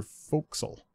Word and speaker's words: forecastle: You might have noticed it if you left your forecastle.